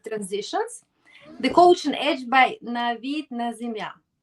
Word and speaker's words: Navid Nazemian: So I call it Mastering Executive Transitions, the Coaching Edge by Navid Nazemian, right? Did That's I correct.